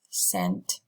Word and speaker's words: scent: Here comes the third word that is pronounced exactly the same, sent, but its meaning and spelling is different.